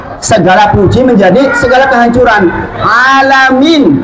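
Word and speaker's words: العالمين: puji menjadi segala kehancuran alamin itu alam semesta pakai Ain P Ain alamin tapi kalau jenan alamin pakai Hamzah artinya yang penyakitan yang berpenyakit atau orang yang penyakitan bayangkan kalau bacanya Imam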